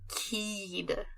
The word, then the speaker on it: Keed: Like, Keed. Yeah, like kid, but spelt with 2 E's.